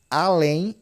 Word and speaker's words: além: Eu tenho uma oxítona, né? Porque o peso tá na última aqui, ó, além, tá?